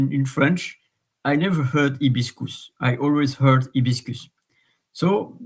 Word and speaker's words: hibiscus: h in Latin and in French you don't pronounce the h so it's ibiscus ibiscus and I wonder if